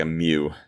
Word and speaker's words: emu: who's probably be like yeah but you're still pronouncing it wrong i don't care man in this part of the world we say emu i think it was like a mew anyway i've seen them